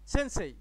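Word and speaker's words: せんせい: এখন সব মিলে দেখেন তো এটার উচ্চারণটা কি হয়েছে? ছয়কাশে নসেন, ছয়কাশে রস্যই, সেন্সেই।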